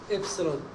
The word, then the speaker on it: epsilon: Y equals beta 0 plus beta 1x plus epsilon. This term pronounced as epsilon.